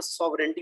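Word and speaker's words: sovereignty: तो इनको हम कहते हैं, जैसे ये स्ट्रेंथ है या यहाँ सॉवरेंटी में भी जी जो है वो हम प्रोनाउंस नहीं करेंगे, तो ये है हमारे साइलेंट लेटर्स।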